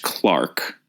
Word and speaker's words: clerk: is our titular City Clerk or Clark we do realize that it is pronounced Clark in the UK but we are going to say clerk throughout so please don't be